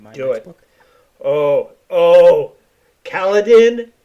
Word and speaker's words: Kaladin: Kaladin. Oh, or Caladine. I think it's Caladine is the way they actually pronounce it.